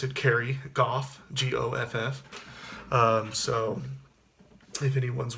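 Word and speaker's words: Goff: mention I did say my name is Carrie Gulf and that's how i pronounce it Carrie Gulf geo FF so if anyone's wondering that's how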